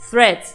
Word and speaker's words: threads: Mucha gente dice threads, un montón de pronunciaciones, pero la pronunciación correcta es threads, ¿sí? Porque siempre se hace la duda de cómo pronuncio Luisina. Bueno, en este caso es threads, ¿ok?